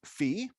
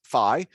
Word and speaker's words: phi: is usually denoted as fee this is also uh pronounced phi so you can either say fee or phi i'm not even sure